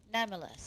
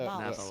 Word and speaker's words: Namalsk: Namulus. Hey, no, Namalsk. Namalsk. Putting the wrong Yeah. emphasis on the I don't know. incorrect I syllable.